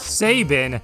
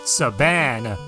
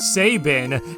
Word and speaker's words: Sabin: met somebody who insisted that the name was pronounced Sabin and I actually tried to correct him he